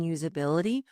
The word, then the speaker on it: usability: we see that prioritizing usability will accelerate adoption. Here's a pronunciation tip. Notice that the S in usability actually sounds like a Z. There's a slight vibration.